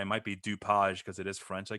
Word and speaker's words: DuPage: yeah for kane and i have no clue if i'm pronouncing this correctly doupage oh look at you it's actually uh dupage county oh dupage huh